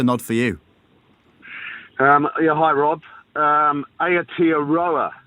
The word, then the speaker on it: Aotearoa: Aotearoa is how you pronounce that, mate.